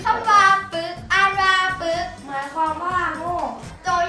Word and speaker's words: ปึ๊ก: นี้ ขอ เสนอ คำ ว่า ปึ๊ก อ่าน ว่า ปึ๊ก หมาย ความ ว่า โง่ โจ ยาก ประโยค งู่